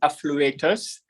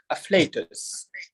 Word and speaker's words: afflatus: Some pronounce it as afflatus, some say affluatus. The correct pronunciation is afflatus.